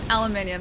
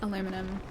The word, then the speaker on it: aluminium: Yeah, aluminium, not aluminum. Aluminium in Australia. And I think actually in Europe as well. But yeah, I know it's aluminum in the States. It's aluminium for me.